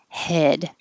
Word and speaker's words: head: higher head head hat if you have trouble finding the e as in head say yes because it's the same vowel and Nobody messes up yes yes head but if you are trying to say head and it sounds like had then you know your jaw was too open had head and Hut